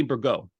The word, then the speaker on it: Bergot: conversation uh with Stephanie burgo T is silent correct yes practice pronunciation